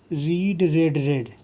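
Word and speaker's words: read: तो सी हैड रेड की third form है रेड। रीड को हम स्पेलिंग वही रहेगी, लेकिन इसको हम रेड पढ़ते हैं।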